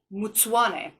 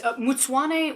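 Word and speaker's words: Mtsvane: about a grape called mutswane it's with a v a lot of times the v is pronounced like a w also done in quevery and this is mutsuane when you don't have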